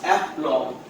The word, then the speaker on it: aplomb: So when it comes aplomb, that means B is silent. So you can say aplomb.